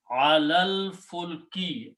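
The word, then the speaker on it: عَلَى الْفُلْكِ: So when you read together, you do not pronounce this, you do not pronounce this, and you pronounce alal. This lam combines with this lam, alal fulki, upon or on the ship.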